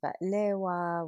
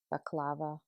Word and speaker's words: baklava: And this episode is fueled by some white wine, some Arabic coffee, some batlewa, which to Americans is pronounced baklava.